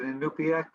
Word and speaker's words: Inupiaq: I'm going to try to avoid mispronouncing names. Chris, is it Inupiaq?